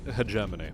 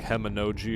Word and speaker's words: hegemony: bullied him enough that he actually knows how to pronounce hegemony as opposed to like heminoji or hedges germany hame energy he doesn't do that